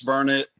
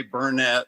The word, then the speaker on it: Burnet: it right is it burnard Texas yes it's Burnet don't ever say Bernett or people around here will get after you about it I know